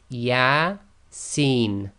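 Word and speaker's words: يس: thing to know is these abbreviated letters are pronounced as the names of the letters not as sounds so the first example we've got here and it's from the earth manuscript is yeah scene okay so these are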